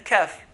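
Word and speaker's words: كاف: Just beneath that is a kaf, which is like a K in English.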